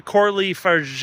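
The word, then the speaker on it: Coralie Fargeat: This is a Coralie Farge, I believe her name is pronounced.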